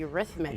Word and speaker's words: Eurythmics: benatar how do you say this one the eurythmics the eurythmics yes popular 80s group yeah carly simon as